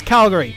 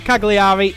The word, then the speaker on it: Cagliari: The other in which we drew 1-1 away at Serie A side, whose name I now know how to pronounce. It's Calgary. It's not Cagliari, it is Calgary.